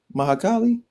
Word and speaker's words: Mahakali: get it I get it uh M mahakali mahakali yeah you could say that how do how